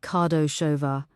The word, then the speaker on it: Kardosova: Also, I want everything you can find on a woman named Barbara Kardosova, pronounced Kardoshova.